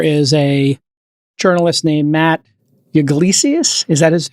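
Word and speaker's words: Yglesias: this week there is a journalist named Matt Iglesias is that is how you pronounce his name yeah Iglesias and he said I mean he literally said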